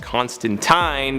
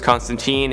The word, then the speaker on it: Constantine: As I mentioned in a previous video, I know in the original source material it's pronounced Constantine, but in all of his live action appearances and animated appearances, he's referred to as Constantine, and honestly that's just kind of the preferred pronunciation nowadays.